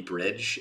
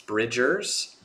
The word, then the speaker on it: Bridgers: thinking I feel like I keep saying Phoebe bridge is it's Bridgers I think I'm so sorry